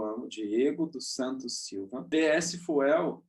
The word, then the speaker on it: DS Fuel: Diego dos Santos Silva PS fuel é a pronúncia em português né mas Inglês fica Dias fio eu ganhei esse nome